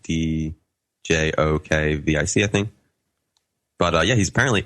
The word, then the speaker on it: Djokovic: It's actually it's a pronunciation thing. It's like DJOKVIC, I think.